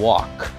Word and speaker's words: walk: As palavras que tem o L e o K, o L não é pronunciado. Então, por exemplo, conversar, andar. Então, a gente fala talk and walk. Então, você não vai falar talk e nem walk. Então, preste atenção, porque a pronúncia é talk.